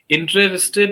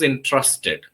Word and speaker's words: interested: So Oh, your pronunciation, somehow, maybe because of some conditioning, you have been pronouncing it as entrusted. So make sure that you change it to interested.